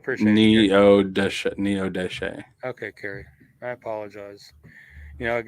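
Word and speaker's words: Neodesha: She said you mispronounced it, but it's spelled right. Oh, okay. Thank you. It's Neo Deshe.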